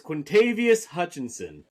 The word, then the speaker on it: Quintavious Hutchinson: Quintavious Hutchinson. That is how you say it, yeah. There's no O-N at the end.